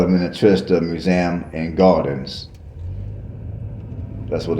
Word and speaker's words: Minnetrista: All right, people, the name of that museum is Minnetrista.